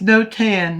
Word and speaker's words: Notan: So it's no tan, not it's spelled N O T A N.